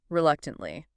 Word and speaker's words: reluctantly: Reluctantly. R-E-L-U-C-T-A-N-T-L-Y. Reluctantly. 4 syllables. Stress on the second.